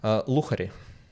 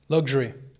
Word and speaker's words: luxury: Luchari. Say it again. Luchari. Luxury.